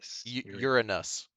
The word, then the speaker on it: Uranus: tab i completely forgot about uradus uh it's pronounced earnest you're a nus it's a god right of it's greek greek